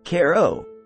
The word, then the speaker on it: Cairo: don't forget your gas mask six Caro Illinois Cairo pronounced Koo because you'll care a lot about leaving once